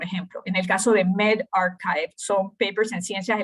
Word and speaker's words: medRxiv: Algo que es sumamente nuevo es este sistema de preprint, que no sé si han visto, esto es MedRxiv, que se pronuncia medRxiv, ¿verdad? Archivo médico, o bioRxiv.